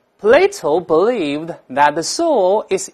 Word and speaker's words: Plato: 士多德，这个读成 Plato，不要读柏拉图。